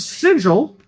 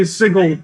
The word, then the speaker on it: Sigil: in the city of Sigil because I'm going to actually pronounce it corre correctly now. Um because I can't say sigle consistently for that many times.